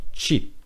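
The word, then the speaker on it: qi: Tchip donc l'énergie alors ça s'écrit cuit mais ça se prononce cheap l'énergie elle doit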